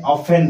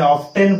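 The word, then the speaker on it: often: बारंबार समिति गोटे शब्द अछि या को हमें ऑफेन पढंती ऑफेन एथिरे लेखा है टी मध्ये किंतु हमें ऑफ्टेन पढु नांती हमें टी को उच्चारण करंती नाही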